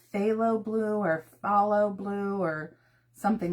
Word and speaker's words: phthalo: It started with a ph. So, I'm going to say that as an f, a f. It was like phthalo blue or blue or something like that.